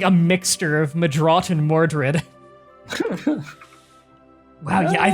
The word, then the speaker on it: Mordred: And the original pronunciation is Madrat, which is what I'm named after, but people know it as Mordred.